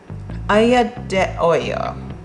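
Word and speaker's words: aglio e olio: You can make, there's an Italian dish called, I say it wrong every time, aglio de olio.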